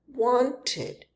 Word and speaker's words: wanted: There's the spelling, but it sounds like wanted with a short e sound.